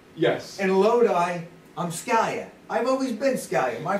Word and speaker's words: Scalia: she said scalia it's scalia i said no what are you talking about dana it's stallion we're all scanning she says it's pr really pronounced scalia the eyes pronounced as an a i go well i've